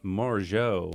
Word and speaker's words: Morigeau: We are here with Janine Morigeau. Yeah, perfect. Did I say Perfect that right?